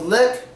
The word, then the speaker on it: lick: your mouth leak leak but with lick it's not the same with lick you don't want to stretch your mouth on the sound like when you say leak your mouth widens leak leak but when you say lick you don't want your mouth to stretch at all it should stay in